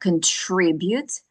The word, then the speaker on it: contribute: Contribute. Здесь важно ударение. Contribute to the economy.